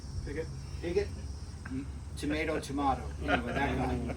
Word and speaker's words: Pigot: How do you say it, Paul? Piggott.